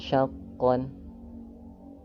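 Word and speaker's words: شَقًّا: Nah, ketika berhenti di syaqqon di sini kita berhenti di huruf yang berharakat fatahtain sehingga di sini berlaku hukum mad iwad. Dan cara bacanya seperti tadi ya, fatah tain tersebut berubah menjadi fathah dan bacanya dipanjangkan dua harakat sehingga bunyinya menjadi syaqqo. Syaqqo qonya dibaca dua harakat.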